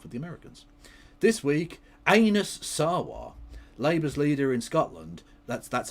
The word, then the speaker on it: Anas Sarwar: This week, Anas Sarwar, Labour's leader in Scotland, that's how you pronounce it.